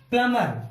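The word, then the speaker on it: plumber: अब इसके बीच में आप देखिए एम के बाद बी आया हुआ है, एम के बाद बी आने की वजह से बी हो गया शांत, साइलेंट। तो हम इसको और इसको अलग अलग बोलेंगे, तो प्लम, PLUMER भी नहीं बोलेंगे, तो ये बना प्लमर।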